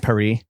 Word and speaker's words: Paris: like pack an extra well Paris I mean come on it's pronounced perie yeah oh like cpri I